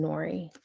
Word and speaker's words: Nori: Mom calls me for a while and then Nori. For some reason, Chet calls me or. Nori is the name that sticks. Nori pronounced like Lori, but with an N.